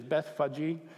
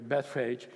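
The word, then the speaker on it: Bethphage: now when they drew near to Jerusalem to Bethpage actually the pronunciation is Beth faji but we're going to go with the English pronunciation here Bethpage and Bethany at the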